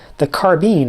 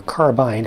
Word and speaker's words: carbine: There's one disappointment out of all this, and it's the carbine, or carbine, however you choose to pronounce it. I don't care which, both are perfectly correct, but no paint application on that one.